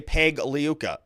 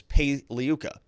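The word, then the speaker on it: Pagliuca: also see jeffrey paliyuka like i said the g is silent so you know keep that clean it's like lasagna you don't say lazagna so don't say peg liuka it's pai liuka obviously now something interesting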